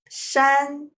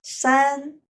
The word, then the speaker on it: 山: lessons will be mountains how to say mountains in Chinese it is Shan once again Shan so how's the stories